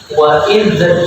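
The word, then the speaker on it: وإذ: Wa idh yarfa'u, hati-hati ketika membaca huruf dzal tidak ada pantulan. Wa idh tidak boleh ada d-nya ya. Tapi bersih.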